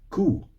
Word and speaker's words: ko: Now, in Sweden, it's cool. K O, not knockout, but cool.